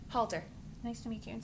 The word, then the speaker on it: Halter: i'm sorry i missed your last name halter nice to meet you and spell it h-a-l-t-e-r good thank you very much welcome